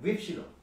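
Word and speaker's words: ὖ ψιλόν: 윕실로. 이름만 놓고 보면 앞에 엡실론이 있었어. 네. 엡실론은 명칭이 중요하다고 했어요. 명칭이 음과라고 했어요. 엡실론이니까 에 발음이 났어요. 근데 지금 윕실론이라고 했어요? 윕실론이니까 위 발음이 나.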